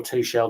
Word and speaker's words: Tuchel: And then Thomas Tuchel or Tuchel, depending how you pronounce his name.